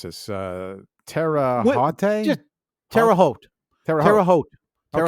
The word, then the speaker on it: Terre Haute: I'm not sure how to pronounce this. Terre Haute? Just Terre Haute.